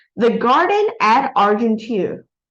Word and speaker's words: Argenteuil: And the title of this picture is called The Garden at Argenteuil. So the word is French, so you don't pronounce the I and L. Argenteuil.